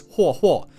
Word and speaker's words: Huohuo: pronounce the Chinese name, is Huohuo, which is like the fourth intonation or 第四调.